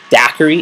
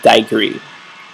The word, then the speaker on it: daiquiri: I know I didn't get another daiquiri. That would have been lovely. But and for those who pronounce it daiquiri, it's daiquiri. I don't know where y'all get daiquiri from, but whatever.